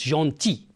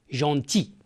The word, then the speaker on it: gentil: notre voisin est gentil on prononce gentil on ne prononce pas le l gentil bien regardez que fait